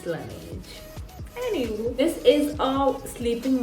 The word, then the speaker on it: Laneige: I used to call it Laneige, and then I saw that जिसमें इन्हीं के employees दूसरे employees को गलत pronunciation जाके बोलते हैं, and then they're like, dude, it's Laneige. Okay, it's Laneige.